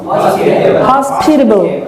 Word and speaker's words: hospitable: hospital, hospitality, and this one is hospitable, where is the stress on? The stress is on the second syllable, right?